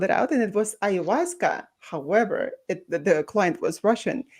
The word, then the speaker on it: ayahuasca: And she said that it was ayahuasca, and this is how you need to pronounce it, because all I saw, I had a spelling of it.